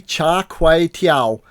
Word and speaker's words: Char Kway Teow: I completely butchered the name, but the dish is actually Char Kuih Teow, stir-fried rice noodles with prawns and Chinese sausage.